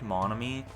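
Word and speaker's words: Monomi: to the storage room i know that it's pronounced monomy but for some reason that just sounds weird to me so i just don't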